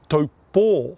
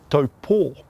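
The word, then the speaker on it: Taupō: Now, did you know taupo is actually correctly pronounced as in taupo with a Macron over the last O? Taupo.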